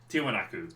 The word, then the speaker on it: Tiwanaku: Tiwaniku? I've heard it as Tiwanaku. Tiwanaku by the publishers.